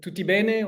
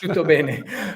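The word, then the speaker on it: tutto bene: Uh, how do you say like tuten or something like that? Yes. Tuttoben.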